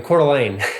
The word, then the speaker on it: Coeur d'Alene: Where you're living or how he pronounced it? Where I'm living, Coeur d'Alene.